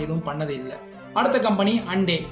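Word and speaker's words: Hyundai: அடுத்த company Hande. ஹூண்டாய் motor company பற்றி தாங்க பேசிகிட்டு இருக்கோம். இத்தனை நாளாக நம்ம தப்பாக ப்ரொனவுன்ஸ் பண்ணிட்டு இருக்கோம்.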